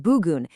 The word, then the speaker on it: bugün: Now, anchoring us right here in the present, we've got bugün, pronounced bugün.